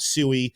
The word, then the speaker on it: Sui: What I'm watching for on SWE at the moment is, and again, we call it SUI. Some people call it SWE. We took a poll. Our community voted SUI, but I think the correct pronunciation is SWE.